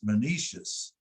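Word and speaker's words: Menoetius: And then Patroclus is one of the big ones, and Menetius, John, that's it doesn't look like that, but it's Menetius.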